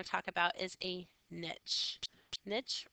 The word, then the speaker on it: niche: part we're going to talk about is a niche Niche rhymes with SN Niche and the niche is the